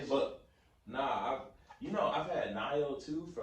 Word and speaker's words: Nioh: But nah, I've had Nio too for like I think 2.5 years now. Still Is that really how you back pronounce it? Nio? It's Nioh.